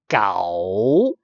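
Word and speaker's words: 九: And then, so next number will be 9. Gao. Gao is belong to tone 2, from 3 to 5, high rising.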